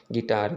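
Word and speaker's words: guitar: जब कभी यू के बाद कोई वाइवेल्स नंबर्स आए, ठीक ना, अक्षर आए, तो यू यानी इसमें से हम यू को तो साइलेंट पढ़ेंगे, ठीक है ना। आप देख सकते हैं गाइल, गिल्ट, गिटार, गॉड और बिस्कुट, ठीक है ना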